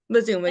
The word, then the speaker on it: Mazuma: Can you pronounce Mazuma? Is that how you pronounce it? Mazuma. Mazuma.